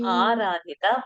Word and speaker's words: आराधिता: Aradhita, it is a long a and ra.